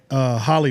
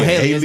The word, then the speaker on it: Halle: I'm always about to say Holly Berry. Let's say Oh, Haley. Haley. It's Haley. Haley. It's Haley. Baby. Let's say Haley. So Haley basically, she kind of